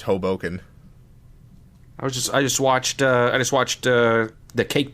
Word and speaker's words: Hoboken: So, according to Yahoo Answers, it's pronounced Hoboken.